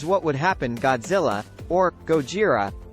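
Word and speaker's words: ゴジラ: would happen Godzilla or Gojira as it's pronounced in Japan has been a popular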